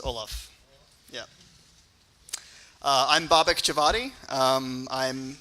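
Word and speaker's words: Ollam: Yes, the correct pronunciation is Olaf.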